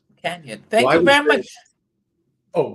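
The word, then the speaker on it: Cañon: but that first n has an Enya Spanish pronunciation of Canyon Canyon thank you very much oh go ahead no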